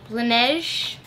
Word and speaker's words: Laneige: Okay, so first thing I see in here is the Laneige. That's how you say it. Laneige Lip Sleeping Mask.